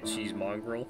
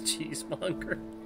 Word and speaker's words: cheesemonger: of It's Always Sunny, where Charlie calls this guy a cheesemongrel because he can't pronounce cheesemonger.